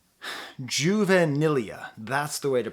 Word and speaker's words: juvenilia: say broken in half now I call this juvenilia juvenilea that's the way to pronounce it juvenile Juventus it still Bears a